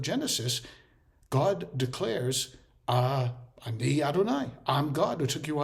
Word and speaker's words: Adonai: I am God using the for letter name of God the Y the hey and the V and the he which we usually pronounce as Adonai and then he goes